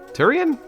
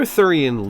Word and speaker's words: Thurian: leaves the greater thurian League Tyrion Tyrion to be fair I've heard him pronounced either way but I digress the greater thurian league is one of